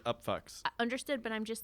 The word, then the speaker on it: Upfux: It's spelled F-U-X. So right. Yeah. I get it. It's still pronounced the Upfux.